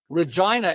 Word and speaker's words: Regina: Regina, it rhymes with fun.